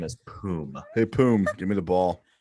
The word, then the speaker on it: Poom: name is boom hey poom give me the ball is it spelled phonetically p-o-o-m yes so this guy it